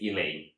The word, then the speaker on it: Eleine: is elaine i think i think you're supposed to say it elaine well this is one